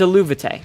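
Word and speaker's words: Eluveitie: I got something pronounced right here. Wait, what? Yeah, it's Aluvite.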